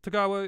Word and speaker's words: Tagawa: of master of this uh I nailed the pronunciation eventually tagawa is correct yeah sure correct but anyway it's